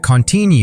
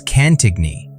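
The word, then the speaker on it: Cantigny: It's a mainstream historical fact that Contini marks the first significant US offensive operation of World War I. But the quirky tidbit, many Americans mispronounced it as canigigny, prompting French officers to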